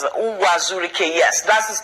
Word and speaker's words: Uwazurike: I don't know if I pronounce it. Uwazurike, yes, that's his name.